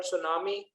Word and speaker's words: tsunami: There are we have observed that there are so many words whose first letter remains silent, like the word tsunami, there is a T silent.